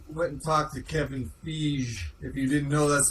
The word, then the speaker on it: Feige: Yeah, I was going to, I went and talked to Kevin Feige. If you didn't know, that's the real way to pronounce it.